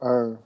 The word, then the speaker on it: Erve: Irve. Is that how you pronounce your last name? How you pronounce Irv, it? yeah, J. Irv.